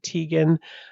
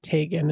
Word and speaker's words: Teagan: actually pronounce Tan's name correctly I would have pronounced it Teegan uh but I saw her uncle on like a press conference with the RCMP and he pronounced it Tagan and I'm pretty sure uncles don't usually mispronounce